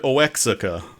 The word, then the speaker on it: Oaxaca: British YouTuber did where he covered Brigand Oaxaca and pronounced it properly. Brigand Oaxaca.